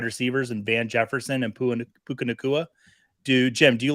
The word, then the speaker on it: Puka Nacua: No, I said Puka Nacua. I might have said Pua.